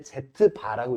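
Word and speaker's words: z̄: 그래서 여기 이걸 읽을 때 Z바라고 읽어요. Z바 z바라고 읽고이 녀석이 짝이 되는 복소수는 뭐냐면 A - bi입니다.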